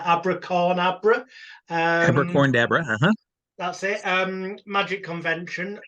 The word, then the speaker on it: AbraCORNabra: I can never pronounce it right. AbraCORNabra.